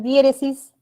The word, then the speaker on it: diéresis: Ahí la sílaba tónica es die, esta de acá. Y se coloca tilde por ser esdrújula.